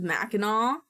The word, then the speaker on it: Mackinac: All of the English pronunciation are of non-English words. That's weird. The island is Mackinac.